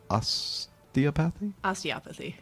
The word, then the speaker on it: osteopathy: a doctor of osteopathy? Osteopathy. Gosh darn Very it. close. I always mess that up. It's the emphasis on the other syllable.